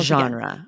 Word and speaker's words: genre: anglicized that way and sometimes people add an extra e to make this three syllables like genre or gen oh it's hard for me to hear the differ so okay the correct French pronunciation is what Aubrey tell genre genre genre okay and what is